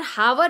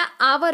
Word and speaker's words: hour: जैसे HOUR, हावर नहीं होता, आवर होता है, क्योंकि इसमें एच क्या है? साइलेंट है।